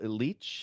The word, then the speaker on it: Leitch: Director David Leitch. Am I pronouncing that right? Do you know Hilty? Is it Leitch?